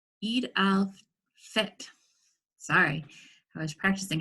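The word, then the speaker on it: Eid al-Fitr: to share a story called Rashad's Ramadan and Eid Alpher Eid al fit sorry I was practicing how to pronounce that - it was written by Lisa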